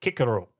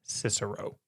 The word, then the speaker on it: Cicero: We don't say Cicero. We say Cicero. And so for me I think it would be pretentious if I threw in the hard C because I don't do it with all these other ones.